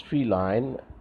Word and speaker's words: feline: a cat so feline it has to be pronounced as feline feline means cat depravity is evil quality ladder